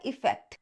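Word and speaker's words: effect: जो ए से स्टार्ट होता है अफेक्ट, जो ई से स्टार्ट होता है इफेक्ट।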